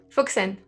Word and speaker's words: Füssen: Füssen. Is it with CH? Oh no, it's Fussen. It's Füssen. Füssen.